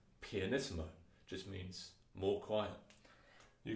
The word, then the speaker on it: pianissimo: more extreme for example you can have two ps and that's pronounced pianissimo just means more quiet